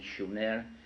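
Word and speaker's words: Shumer: in in in the correct spelling and pronunciation, Schumer, which meant land of the guardians in southern Mesopotamia, which is today's Iraq.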